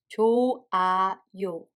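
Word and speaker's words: 좋아요: As you just heard, there is no H sound between 조 and A. If there is a H sound Batchim followed by a syllable that starts with a circle like this, the H sound becomes a mute. So in this case, we don't pronounce H.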